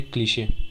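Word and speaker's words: cliché: Next है हमारा, pronounce करेंगे क्लीशे।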